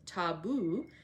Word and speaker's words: tabu: places till the taboo tabu pronounced taboo means prohibition we have